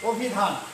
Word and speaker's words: অভিধান: যখন আমি এটা উচ্চারণ করতে যাব তখন দেখো অ হয়ে যাচ্ছে ও, অর্থাৎ এখানে অটা কি হয়ে যাবে? ও এর মতো। তাহলে এখানে কি হবে? অ এখানে চলে আসবে। তাহলে আমাদের উচ্চারণটা হবে ও ভি ধান।